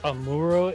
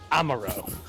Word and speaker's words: Amuro: uh it's in two there's one where it's pronounced amuro and there's another one that's pronounced uh amaro and the one that's